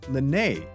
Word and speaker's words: Lynette: her name is spelled Lynette. Since Horsdoeuvre is French, we think that Lynette is pronounced Linne and the T is silent.